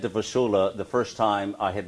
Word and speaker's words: Vassula: step for us and as i said to vasula the first time i had met her i